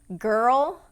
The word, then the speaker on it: girl: Okay, the two words are girl and world. And what makes these two words difficult to pronounce is the combination of the R vowel and the dark L.